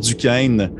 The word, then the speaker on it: Duquesne: également le Fort Duquesne, parce que je le prononce comme du monde, Fort Duquesne de cette année 1758, en direction, dans le